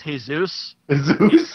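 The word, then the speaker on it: Jesús: gets will add sugar it's pronounced hey zeus yeah if you look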